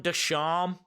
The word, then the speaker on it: Ducharme: Sean Ducharme. Shout out to you, Sean Ducharme. The E is silent.